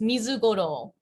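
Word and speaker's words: ミズゴロウ: in uh it's og is it um it's mizugoro oh i think i don't know if it's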